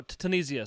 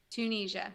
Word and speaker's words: Tunisia: Wars scal like Michael would be cool oh tanisia sorry how do you say it tunia sorry